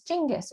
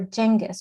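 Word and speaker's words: Changez: protagonist name from urdu c-h-a-n-g-e-z could very well be read to sound like changes many of which changes experiences as the narrative proceeds moreover this particular name could also be pronounced in south asian vernaculars besides urdu as jingas or jengas or as most english speakers know it genghis as in khan changes nominal connection to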